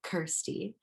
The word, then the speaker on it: Kirstie: So the name came about because thirsty rhymes with Kirstie.